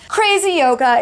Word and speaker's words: CRZ YOGA: Crazy Yoga, it's CRZ Yoga. If you're trying to spell it out to search for it on Amazon, CRZ, Crazy Yoga.